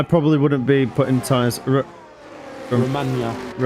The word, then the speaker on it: Romagna: Romagna. Is it Romagna, Skip? Romagna. Romagna. Nah, it's not I know. Romagna, mate. I know. That's how it's... Just say how it's spelled. Imola. Oh, like lasagna.